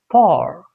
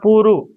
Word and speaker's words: poor: But bar and p it's poor. Poor. Not puru. Okay. It's not puru. It's poor. Poor.